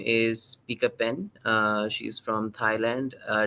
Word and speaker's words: Pichapen: guest with me today um her name is Pika pen uh she's from Thailand uh did I get that right picture of him picture pen yes um that's how it's pronounced so uh picha if I can take